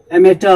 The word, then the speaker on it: amateur: इसका हमने phonetic symbol भी लिखा है, एमेटर, AMATEUR। एमेटर होता है, करेक्ट प्रोनाउंसिएशन।